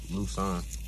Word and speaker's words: Lusain: Cause my middle name is spelled like it's spelled Lusain, but it's pronounced Lusan.